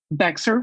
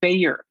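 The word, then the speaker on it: Bexar: this for the correction bexer county texas is pronounced bayer like the aspirin san antonio is a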